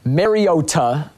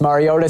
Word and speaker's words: Mariota: the scene there was some confusion was it Mariota Mariota or Mariota we now know that Marcus pronounces his last name like Nintendo's plumber and